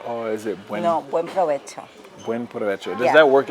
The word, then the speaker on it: buen provecho: Buen provecho. Buen. Those syllables. Buen provecho. Provecho. Provecho. No berberecho. Provecho. Buen provecho.